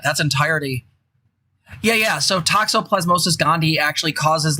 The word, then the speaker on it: toxoplasmosis: compared it to um i believe it's pronounced toxoid plasmosis the disease that you get from cats that like makes you a cat servator and that seems to reinforce gender norms the yeah toxoplasmosis gandhi thank you they basically kind of